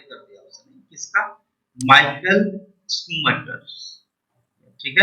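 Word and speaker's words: Schumacher: Michael स्कूमैकर।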